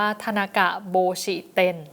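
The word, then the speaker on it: 田中帽子店: แบรนด์ นี้ ค่ะ เอ่อ ถ้า เกิด เป็น ภาษา ญี่ปุ่น เขา จะ อ่าน ว่า ทนากะ โบชิเตน นะ คะ โบชิ แปล ว่า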